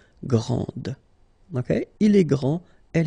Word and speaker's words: grande: Okay, so grand, and then the feminine form, grande. Okay, so you put this E, and then you get the sound D, grande.